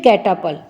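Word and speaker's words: catapult: my self मेरे with कैटापुल्ट ए पी यू एल टी लेकिन टी यहां पर साइलेंट होता है तो यह क्या बोलेगा कैटा पुल विद कैटापुल्ट कैटापुल्ट यानी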